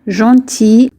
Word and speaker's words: gentil: Sois هي كن gentil gentil gentil لا ننطق حرف ال في آخر الكلمة.